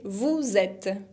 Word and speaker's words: vous êtes: personne du pluriel, c'est vous êtes. Vous êtes. No pronuncio la ES final y hago la liaison, la unión entre vous y et porque uno termina por consonante y otro empieza por vocal.